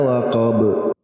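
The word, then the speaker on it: وَقَب: Min syarri ghasikin idza waqab. Waqab dipantulkan. Ba-nya kita sukun dulu lalu kita pantulkan seperti kita membaca ba yang kedua.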